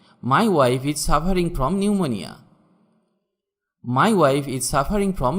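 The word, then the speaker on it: pneumonia: নিউমোনিয়া, এখানে পি এর উচ্চারণ হবে না। নিউমোনিয়া মানে এক প্রকার রোগ। যেমন my wife is suffering from নিউমোনিয়া, my wife is suffering from নিউমোনিয়া, আমার স্ত্রী নিউমোনিয়ায় ভুগছে।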